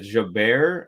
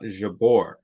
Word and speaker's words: Jabeur: this comes off as rude but Jabor is pronounced as Jaber not Jabor ah interesting I've um I watched a couple